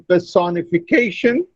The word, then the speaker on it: personification: In personification, K receives, that is the fifth syllable receives the primary stress and the second syllable receives the secondary stress.